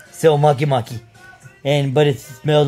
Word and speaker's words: Makemake: like but it's pronounced makimaki like monkey monkey but no n so makimaki and but it smells